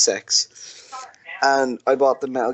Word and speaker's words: CeX: They're called Sex, believe it or not, CEX. Okay. It's pronounced Sex.